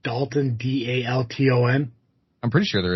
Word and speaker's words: Dolton: It's pronounced Dalton.